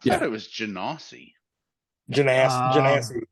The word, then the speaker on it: Genasi: Genasi is generally the pronunciation, but Genasi would work too.